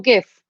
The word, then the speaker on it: GIF: how you say it is it jif or gif anyway you can say it either way to be honest oh